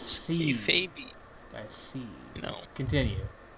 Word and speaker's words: kayfabe: uh they hated each other, like at least K-Fabi hated each other like K-Fabi. Is that how you for like pronounce that word? Well, it's Or- No, I kayfabe, thought it was but I yeah, don't. it's kayfabe.